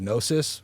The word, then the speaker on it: gnosis: And then that night I came out of my body, and I went to another realm, dude, and I attained gnosis.